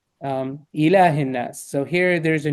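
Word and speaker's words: إله: Here the rule applies to the word in ilah. Ilahin, ilah, Yeah. ilah. So it's pronounced like a normal alif.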